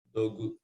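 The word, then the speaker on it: 土偶: Dogu. Dogu. Disney gunya panjang ya.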